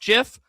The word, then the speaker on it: GIF: The creator of GIF, Kaleb, said that it is pronounced GIF.